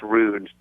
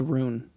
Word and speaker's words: Rune: I like that idea, but I think it's rude to do that. No, it's Rune. It's Rune. His name's not Rude.